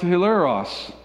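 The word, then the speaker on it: ἱλαρός: greek word is there it's a greek word that's pronounced hilleros does that sound like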